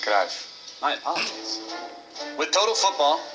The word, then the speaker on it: Cruyff: It's pronounced Cruyff.